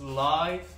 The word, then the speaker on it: LAiV: here from China so this is live Harmony it's spelled as l a i v Harmony and this is